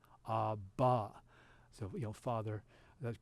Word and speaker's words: Abba: In Aramaic, it's an ah, it's like an AH sound at the end, very similar, but instead of a ha at the beginning, it's an ah at the end, such as in Abba.